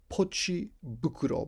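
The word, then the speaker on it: ポチ袋: six word which is pochi bukuro bukro means bag is usually pronounced fukuro but when you add pochi to it it it's pronounced bukuro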